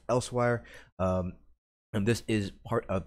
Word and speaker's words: Elsweyr: name right there Els w ey R is pronounced elsewhere and this is part of the Khajiit homeland